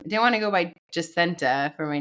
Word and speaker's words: Jasinta: like, "Oh, your name's Hassina." And I'm like, "Well, it's not because it was my mom's best friend name." And she's from West Indies, so they pronounce it Justenta.